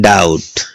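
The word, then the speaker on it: doubt: इसमें टी से पुरव क्या है, बी है, क्या बोलते हैं, डाउट।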